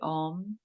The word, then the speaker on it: Om: of the world, the Om. The three parts to the Om. So there's, if you pronounce this, there's the A, the U, and the M. So there's the and you hold the M longer.